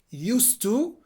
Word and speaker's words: used to: pronunciation of used to it is pronounced with an s not with a z so again used to so i can say